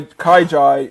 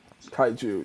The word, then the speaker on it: kaiju: humans build in order to fight the kai kaijai and the sp pacific rim franchise again what